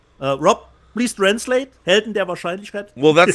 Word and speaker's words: Helden der Wahrscheinlichkeit: Helden der Wahrscheinlichkeit. Rob, please translate. Helden der Wahrscheinlichkeit.